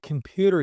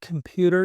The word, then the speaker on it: computer: So the word computer is a little bit difficult for some people to pronounce, okay? So it's computer, computer, pewter, pewter. Or so repeat after me and say der, pewter, pewter, computer, computer.